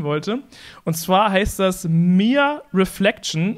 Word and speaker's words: Meer: Und zwar heißt das Mere Reflection und Mere habe ich jetzt mal irgendwie so ausgesprochen, es wird wie im Deutschen das Meer geschrieben, also M-E-E-R, Reflection.